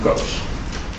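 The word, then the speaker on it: cosh: and kosich yeah actually the pronunciation for yes so it's cinch coach stench those are easy to pronounce but when it comes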